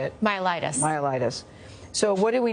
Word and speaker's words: myelitis: Myelitis.